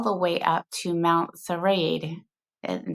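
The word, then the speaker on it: Srđ: way up to Mount Serade and that is spelled S R DJ. And it if you're an American like me, it's kind of strange to see a word without a vowel in it, but uh that is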